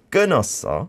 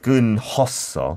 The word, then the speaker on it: 끊었어: But you don't like need to say 끊었어. No. Like when it comes to this hiu that mm-hmm. is followed by iu, mm. then it is silent.